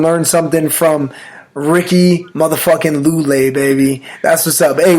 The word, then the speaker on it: Lule: Like, Lule. Like, oh man, it's Lule.